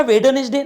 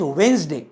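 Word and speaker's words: Wednesday: वेडनेस डे म्हणतात का वेडनेसडे नो नॉट वेडनेसडे दट इज वेनसडे वेनसडे काय म्हणतो आपण त्याला वेनसडे बुधवार नॉट वेडनेसडे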